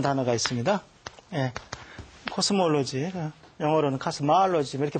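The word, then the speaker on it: cosmology: 그래서 이건 두 개가 구분이 돼야 되고, 제일 혼돈되는 것이 코스모스라는 단어에서 나온 코스몰로지라는 단어가 있습니다. 코스몰로지, 영어로는 카스마알로지 이렇게 발음합니다.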